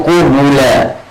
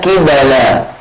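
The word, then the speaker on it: قُبُلًا: kulla syai', segala sesuatu, qubla bi dhammatain, bacanya itu qubula ya, jamak qabil, bentuk jamak dari qabil, ai faujan fauja, yani sekelompok setahapan sekelompok. Baik, wa bi kasril qafi wa fathil ba, bisa dibaca qibala, qafnya di kasrah, fa-nya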